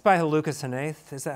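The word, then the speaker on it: Hnath: It's by Lucas Hanaith, is that how you pronounce it? Hanaith, yeah.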